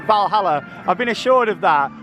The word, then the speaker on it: Valhalla: valhalla that's just here might start with a w but you do pronounce it valhalla i've been assured of